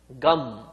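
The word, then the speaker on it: गं: For the Ganesha mantra to empower the mantra, that syllable is called Gam. Gakaraha Purva Rupam. There is Gakara. Akaro Madhyama Rupam. Akara is added to it, then it becomes Ga.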